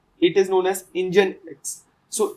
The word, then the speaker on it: Nginx: for proxy so there is this term called engine X I know the spelling is bit different than what it is pronounced it is known as engine X so it's a very popular framework it is